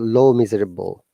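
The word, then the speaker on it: Les Misérables: my favorite book is less miserables by ah victor hugo amazing let's actually in french it's called low miserable that's silent okay do you speak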